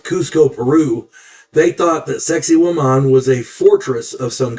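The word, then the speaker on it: Sacsayhuamán: Sexy woman. Yeah, sounds a lot like sexy woman, but it's pronounced sex with the accent on that last a.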